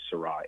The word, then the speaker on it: Sarah: It's called The Power of Silence by Cardinal Seurat, S-A-R-A-H. Looks like Sarah, but it's pronounced Seurat.